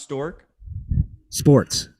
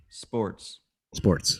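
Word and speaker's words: Sztorc: And his last name is pronounced Stork. Sports.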